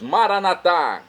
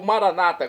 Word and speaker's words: Maranata: aramaico dialeto de Jesus maranat como dizemos noss católicos ou Maranata como dizem nossos irmãos separados doos evangélicos ou protestantes não importa a pronúncia significado é o mesmo